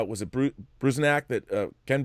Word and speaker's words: Bruzenak: Howard Chaykin's American Flag, but seeing how it was Bruzenak, that Ken Bruzenak, is that how you pronounce his name?